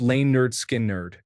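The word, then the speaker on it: Lynyrd Skynyrd: Leonard Skinnard. pronounced lane nerd skin nerd the eagles hotel California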